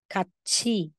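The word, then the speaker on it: 같이: ng vowel na e so si letter T magiging ch So kung basa mo diyan katchi katchi Okay next Ito po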